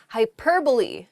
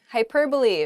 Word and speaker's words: hyperbole: a close oh yeah hyperbole hyperbole um it's not hyperbole though it does sound very funny to say that hyperbole just